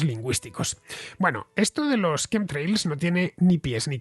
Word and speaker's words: chemtrails: Pues mira, Nacho, se pronuncia chemtrails, así, como si lo escribiesen con K.